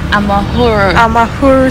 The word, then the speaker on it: Amahoro: So we just got to the how do you pronounce the name of the stadium though? Shimoyo. Amahoro Stadium.